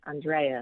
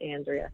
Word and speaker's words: Andrea: Yes, it was very important to say it correctly, Andrea, not Andrea.